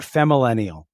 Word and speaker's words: Femmillennial: Okay, tell me about Femmillennial. Okay, good job. You pronounced it correctly.